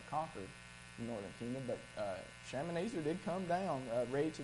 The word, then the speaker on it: Shalmaneser: But militarily, there were, make sure I get this pronounced correctly here, Shalmaneser.